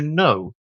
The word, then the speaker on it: know: Another one that comes to mind is to know to know something which in English has in modern English has a silent K.